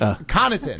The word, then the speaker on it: Connaughton: no G. It's Connaughton.